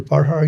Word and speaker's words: Parhar: Parhar. Am I pronouncing your name right? Yes, you're Parhar.